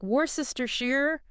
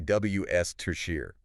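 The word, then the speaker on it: Worcestershire: They try to sound out every letter. Yeah. It's like warister Shear. Yeah. Something like that. But it's actually WS tier. Ws ters. Yeah. So it's like we drop a bunch of letters.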